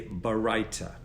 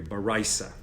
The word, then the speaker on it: baraita: And in the Gemara, it says that the sages bring down a teaching known as a baraita, or a baraisa, if you're pronouncing it in the Ashkenaz style.